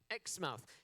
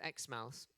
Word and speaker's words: Exmouth: Um unlike everywhere else in Australia where the vowel sounds are shortened, Xmouth decided not to shorten their vowel sounds.